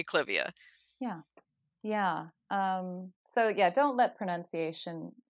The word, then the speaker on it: Clivia: almost pronouncing incorrectly, like Clivia is actually Clivia Yes. after Lord Clive. But we've all agreed, the general plant nuts, have Mhm. decided we're going to say Clivia.